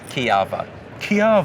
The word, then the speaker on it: Kujawa: way at all yeah no one pronounces it right what is it again Chiappa Kiev ah yes and it's polish its polish good lord so I have